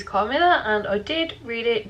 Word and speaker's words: Carmilla: Carmilla, I think that's how you say it. It is Carmilla and I did read it during August.